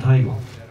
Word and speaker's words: Taigon: Jag tror det uttalas Taigon. Lasse, säger man Taigon? Lasse jobbar på Hudik. Man säger Taigon.